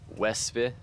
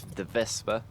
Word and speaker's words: Wespe: And then it went to the Wespe, the Vespa, I think is actually how you're supposed to pronounce it.